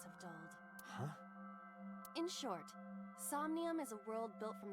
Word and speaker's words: Somnium: Now they tell me Somnium.